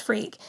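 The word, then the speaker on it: Freke: It is pronounced freak.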